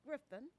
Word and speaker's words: Grifton: Griffin is pronounced Griffin, and it's spelled Grifton, and it's the southernmost part of Pitt County, the southernmost part of the county of Pitt.